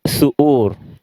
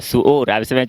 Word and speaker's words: suhour: Le mot, c'est suhour.